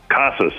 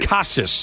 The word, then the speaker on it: Casas: don't know the how how do you say the last name kasus I believe casus okay Red Sox first